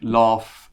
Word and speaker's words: laugh: The first is the R pronunciation, like car or far. And it's in words like laugh and draft.